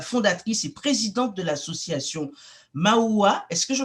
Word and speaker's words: Maua: vous êtes la fondatrice et présidente de l'association Maua. Est-ce que je prononce bien? C'est bien ça? Oui. Voilà, Maua, et vous êtes titulaire d'un BTS de gestion.